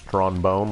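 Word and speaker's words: Tron Bonne: tad fair to Tron that's trombone for people who are illiterate her name's Tron bone like the instrument if you can give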